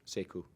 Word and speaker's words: Sekou: How do you pronounce it? Sekou.